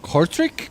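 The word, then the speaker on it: Kortrijk: name of the track it's spelled k-o-r-t-r-i-j-k so i think it's courtric car strike or something like that actually paul wrote that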